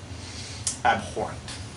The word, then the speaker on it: abhorrent: This is abhorrent. And that's the word I'm going to go with. This is abhorrent. You don't pronounce the H. Abhorrent.